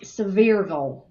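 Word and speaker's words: Sevierville: course uh Dolly comes from I'm sorry it's pronounced sville sville several s where uh the the Smoky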